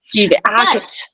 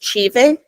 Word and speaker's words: tive: Tive. That's what I was trying to think of because I remember we were conjugating and I thought it was tive, but it's pronounced chive.